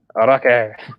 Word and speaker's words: Araki: Araki. Yeah, Araki. We were saying it wrong.